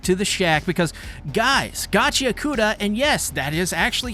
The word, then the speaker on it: Gachiakuta: we head back to the shack because guys, Gachauda and yes, that is actually how you pronounce it.